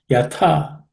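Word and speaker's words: यथा: Yatha, and that second letter tha, similar to the one which we saw in the previous verse also, has to be aspirated second letter in the third class of consonants or third varga.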